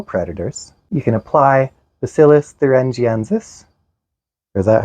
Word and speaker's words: Bacillus thuringiensis: Their claims are: you can pick them off your plants, you can purchase or attract natural predators, you can apply Bacillus thuringiensis.